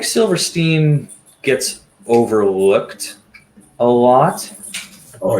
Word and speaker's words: Silverstein: all of you, is Silverstein's 2005 album, Discovering the Waterfront. First things first, do you pronounce it Silverstein or Silverstein? Because that's Silverstein, come on.